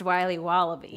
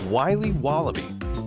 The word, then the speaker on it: Wiley Wallaby: willy's wallabies wallaby wallies will be wobbly it's pronounced wiley wallaby well it's very good it's called wiley wallaby and it's delicious welcome back to the brand